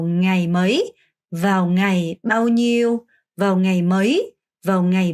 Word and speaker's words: nhiêu: bao nhiêu, 니우 안 돼요. 니우 안 되고요. 냐. 혀가 이렇게 천장을 이렇게 쓸면서 nhiêu 이렇게 발음하셔야 돼요.